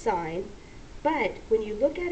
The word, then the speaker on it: sine: short that looks like sin but we do not pronounce it sin we pronounce it sign so whenever you see